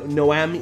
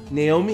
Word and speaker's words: NAOMI: game developed on the no Noami Noami no Naomi is that really how you say it think shenmu think Rio's girlfriend Naomi Naomi uh the games are